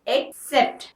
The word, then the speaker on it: accept: Spelling देखिए, ACCEPT, pronunciation एक्सेप्ट, एक्सेप्ट। मैंने आपकी आसानी के लिए यहाँ पे लिख दिया है AKSEPT।